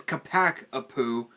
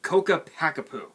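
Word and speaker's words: Ccapac Apu: it they pronounce it so weirdly they they pronounce it as capac a poo it's coca packapoo just so you guys are fully aware i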